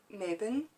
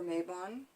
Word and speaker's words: Mabon: me an upcoming Sabbath Mabon or maybe on however you want to pronounce it it is spelled n